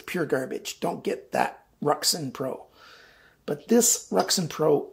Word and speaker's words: RUIXIN: Now, before you get too far, I pronounce that RUIXIN, R-U-I-X-I-N.